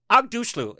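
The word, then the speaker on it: Aghdashloo: And one of my favorite all-time actresses, she's that Persian woman with that smoky, deep voice, Shore Agdushlu is how you say her last name.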